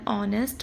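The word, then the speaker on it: honest: और याद रखो एन ऑनेस्ट boy because H silent है।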